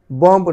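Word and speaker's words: bomb: Silent B after M and before টি, অর্থাৎ এম এর পরে এবং টি এর পূর্বে বি সাইলেন্ট থাকবে। এম এর পূর্বে, এম এর পরে এবং টি এর পূর্বে বি সাইলেন্ট থাকবে। বি ও এম বি, বম্ব না হয়ে হয়েছে বম, বম, বম।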